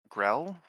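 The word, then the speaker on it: Grell: Grill. I grill.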